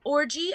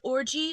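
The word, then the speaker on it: Orji: His last name is Orgy, O-R-J-I, pronounced Orgy, O-R-G-Y.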